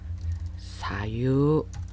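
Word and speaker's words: 左右: 여기 좌우, 사유라고 발음합니다. 사유. 3음절어이지만 유우의 장음화 현상이 나타나서 유를 길게 발음하셔야 돼요.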